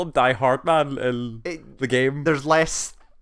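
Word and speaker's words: Die-Hardman: I heard people call him Die Hardman in the game. There's less... is this another thing about the game that's confusing? Yeah, weird. He himself uses only 2 syllables. It's Hardman.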